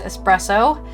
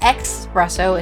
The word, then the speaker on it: espresso: Another great song to listen to is, of course, Sabrina Carpenter's Espresso. Pronounced with an ES, not an EX. It's not espresso, it's espresso. Thank you. I think Italy. That's an Italian word.